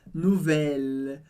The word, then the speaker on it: nouvelle: O U em francês sempre tem som de U, por isso nouvelle. E o E do final eu não leio. De novo, não é nouvelle, nouvelle, mas nouvelle.